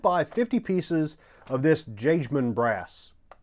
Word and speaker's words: Jagemann: And it's got a name that's tough to pronounce, but over on their videos and stuff, they pronounce it Jagemann.